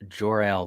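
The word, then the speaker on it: Jor-El: right who was saying name is pronounced joral though like Superman's Superman's father love it love it Jerrell okay gotcha my bad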